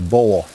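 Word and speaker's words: bole: trunk you know there's another word for trunk bowl it's spelled b-o-l-e bowl yes ah the roots how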